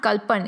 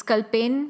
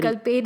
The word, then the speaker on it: Kal Penn: It's not Kalpan. It's Kal Penn. Oh, sorry. Kal Penn is how you pronounce it.